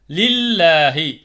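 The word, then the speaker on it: لله: உள்ள கடைசி எழுத்து கசர் செய்யப்பட்டிருந்தால் அந்த லாமை லேசாக உச்சரிக்கணும் பில்லாகி பில்லாகின்னு படிக்கக்கூடாது பில்லாகி பில்லாஹி லில்லாஹி லில்லாஹி மாஸவாத்தி படிக்கிறோம் இல்லைங்களா லில்லாஹின்னு படிக்கக்கூடாது லில்லாஹி லில்லாஹி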